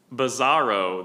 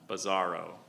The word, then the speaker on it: bizarro: Are there alternate pronunciations? Uh, the dictionary has just one. Bizarro.